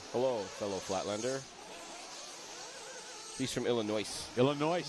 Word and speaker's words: Illinois: He's from Illinois. The S is silent in Illinois.